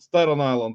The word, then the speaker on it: Staten Island: Long Island I think actually St St it's Staten Island yeah Stan island statan island that's the proper pronunciation Staten Island yeah statan Island so uh